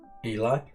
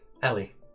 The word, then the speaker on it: Ellie: See, I told you it shouldn't be named as Eli. Ellie.